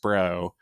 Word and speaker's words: SPR: So, I mean, the one thing they can do is release everything in the SPRO, in the Strategic Petroleum Reserve, which is ridiculously pronounced SPRO.